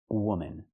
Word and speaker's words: woman: And the last one is this woman. You have one woman. Use the h sound like good and book. Woman. The second syllable is relaxed and closed.